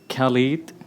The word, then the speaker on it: Khalid: very hard to pronounce it would be Khaled like the DJ Khaled which made my life